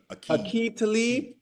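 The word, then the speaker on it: Aqib Talib: Corin Finnean and um classic Aib Khalib Wait, how do you say it? Ake Talib and Michael Crabtree.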